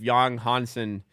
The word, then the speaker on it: Yang Hansen: I'm watching some highlights of Yang Hansen, that's how you say it, playing in summer league last season or preseason last season.